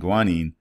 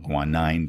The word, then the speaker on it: guanine: Remember, there's adenine, thymine, cytosine, and guanine, or guanine, depending upon how you want to pronounce it.